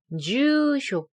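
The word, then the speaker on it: ニューヨーク: 코코니 이름이랑 나마에토 주소 뉴욕 이거 발음 좀 어려울 수 있는데 뉴를 길게 하고 쇼를 짧게 해야 돼요 응 맞아요 반말의 질문할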